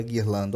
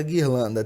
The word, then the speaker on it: guirlanda: Eu tenho 2 dígrafos na palavra guirlanda, olha só. O primeiro é esse U, que não é pronunciado, né?